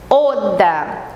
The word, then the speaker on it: oder: Esse final é R, sempre abrindo, como se fosse um A. Oda.